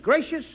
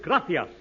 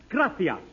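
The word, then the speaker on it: gracias: it please okay muchas gracious Amigo no no no not gracious that word is graas you see in Spanish the C is pronounced th look graas you see th you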